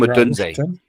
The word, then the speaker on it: Odunze: going to have to correct me on this pronunciation, but Rome Odunze. Yeah, Rome Odunze.